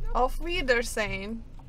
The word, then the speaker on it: Auf Wiedersehen: Auf Wiedersehen.